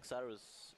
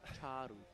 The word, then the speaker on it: Xaru: I would say Xaru. No, say Charu. No. Charu.